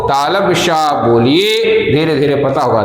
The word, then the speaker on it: श: जो है गलत करते, सा सा सा बोल देते हैं, लेकिन इसके उच्चारण के लिए भी जीभ को थोड़ा सा अंदर ले जाइए, हवा भरिए, उसके बाद इसका उच्चारण करिए, श ऐसे करके उच्चारण करिए।